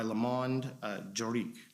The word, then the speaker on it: Le Monde Juridique: of the Year by Le Monde Juridique. Is that correct? That's correct. And did I pronounce it correctly? C'est parfait, oui. Okay, good.